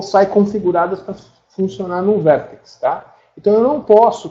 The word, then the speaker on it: VRTX: é o vértex né se escreve brtx mas se pronuncia vértex o resumo é é